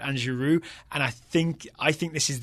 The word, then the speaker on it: Giroud: I want to give a thumbs up to the duo where you don't pronounce the D's. Okay. Eden Hazard, Yeah. Olivier Giroud.